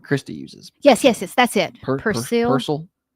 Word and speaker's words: Persil: Persil. How you say it? I don't see a lot of commercials for that one. I know Tide, I know Gain. I said a C, but it was an S.